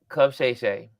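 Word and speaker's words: Club Shay Shay: am I saying it right yeah Club sh Club Shay he's he's had several powerful interviews over the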